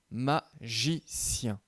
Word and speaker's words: magicien: Alors, commençons par le mot magicien. Dans ce mot, le G se prononce J et donc on va le mettre dans la colonne de gauche.